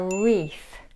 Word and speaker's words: wreath: might say fairy lights a wreath wreath the W is silent that one's easy a